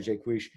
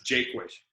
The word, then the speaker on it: Jaquish: for you uh dr jay quish um so okay uh you know you said it right the first time it's jake wish you changed it later on jake was like jake and wish gotcha thank you jake